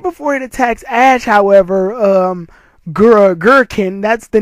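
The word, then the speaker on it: Gurkinn: Right before it attacks Ash, however, Gurrikn, that's the name of the guy. I'm sorry I didn't pronounce his name in the last review, but Karina's grandfather's name is Gurrikn.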